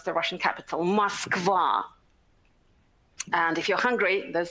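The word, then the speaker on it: Москва: you can read it that's the way we pronounce the russian capital muskvar and if you're hungry there's some source for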